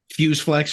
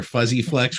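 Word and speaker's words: Fuzze-Flex: It's been out for a year now on Fuse Flex Records or Fuzzy Flex Records, whichever one you pronounce it.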